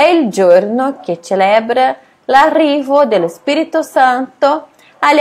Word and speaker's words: celebra: È il giorno, di nuovo giorno, dia, che celebra, Celebra é diferente de português por causa da pronúncia, né? Quando tem o C e o E, a gente fala che.